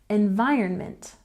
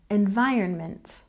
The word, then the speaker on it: environment: next we have environment with a stress on the second syllable environment environment and next we have